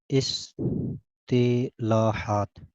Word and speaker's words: اصطلاحات: حوالے سے ہے۔ اصطلاحات اس کا نطق اچھی طرح ضبط کر لیں۔ اصطلاحات، اصطلاحات تو کے نیچے کسرہ پڑھنا ہے۔ اصطلاحات ہر فن کے